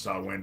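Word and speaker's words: Samhain: with Halloween yes I again I know it's pronounced saw win but most people don't even know about saw win it Sam hay it starts with Sam hay and in my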